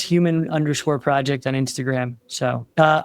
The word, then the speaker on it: HUMN: It's human project on Instagram. So, uh, oh, and human is spelled hu mn. We took out the a.